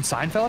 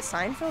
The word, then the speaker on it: Seinfeld: wait Josie you watching Seinfeld out uh yes I love Seinfeld okay great okay how do you say it is it Seinfeld or Seinfeld Seinfeld Seinfeld yeah there's no T there's no that's what that's what I